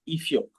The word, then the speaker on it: Ifioque: know more about your location and also your pronunciation of your name. Okay, thank you very much Sonia. My name is Eio.